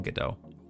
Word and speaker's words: Godot: And like I said, there's some really excellent tutorials out there right now for games that people have made in Godot.